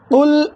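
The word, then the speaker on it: قل: நல்லா அடி தொண்டையிலிருந்து உச்சரித்து குல் என்று சொல்லணும்.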